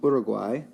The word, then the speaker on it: Uruguay: which country that is so that is Uruguay or pronounced Budig why more locally there they won the